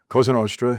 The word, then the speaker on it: Cosa Nostra: 49 years ago, you were inducted, would you say La Cosa Nostra? Is that how you say it, or? Cosa Nostra, yeah.